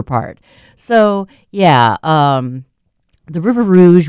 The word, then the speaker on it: River Rouge: Um, the River Rouge, which is pronounced like that because French because French because fur trapping Detroit blah blah blah.